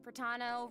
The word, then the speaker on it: Pratano: Hey everyone, I'm Pratano, rhymes with Capitano, the voice of Child's Master, Skirk.